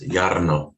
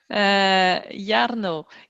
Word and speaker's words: Jarno: excited to welcome jarno did i pronounce it right yarno yes yarno yarno can you tell us